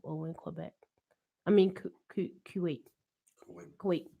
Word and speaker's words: Kuwait: I mean, Kuwait. Kuwait. Kuwait. Is that how you say it? Kuwait. Kuwait. Like you can wait.